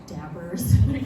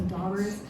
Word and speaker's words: daubers: Specifically, I wanted to find a manufacturer for the daubers, or I guess some of you say dabbers, just like me, kind of use the original pronunciation, so daubers.